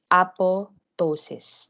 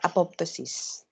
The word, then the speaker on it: apoptosis: During apotosis not apoptosis.